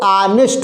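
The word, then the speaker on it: honest: देखिए क्या लिखा है, यच भले है लेकिन इसका प्रोनाउंसिएशन जो है वो ऑनेस्ट होगा, ऑनेस्ट।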